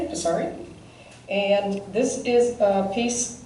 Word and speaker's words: Psaki: I think the P is pronounced. I'm going to do it very softly, Psaki.